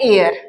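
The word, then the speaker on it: heir: आपके पास है तो इस वर्ड को हम प्रोनाउंस करते हैं एयर ठीक है कुछ लोग इसको हेयर प्रोनाउंस करते हैं बट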